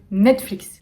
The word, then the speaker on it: Netflix: pingwa kinder bueno hinder compris barzilaï top 14 netflix tout net fixe netflix est ce que tu